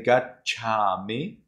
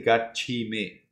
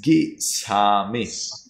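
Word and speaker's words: gacchāmi: So, Emily, when I say gachami, then you cannot say gachimi or gichami. No, doesn't work. Gachami, or in Burmese, it is gisami.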